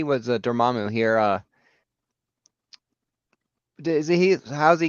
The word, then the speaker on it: Dormammu: Dormammu, yes.